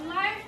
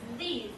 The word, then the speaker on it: live: Here you have to pronounce L-I-V-E as live because it's an adjective here. You can't pronounce it as leave because if you pronounce it as leave, it means it's the verb form.